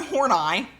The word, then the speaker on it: Horney: Karen, there was a pronunciation key for this person's name, Karen Horney, except it's spelled horny. You're not going to tell me her name wasn't horny.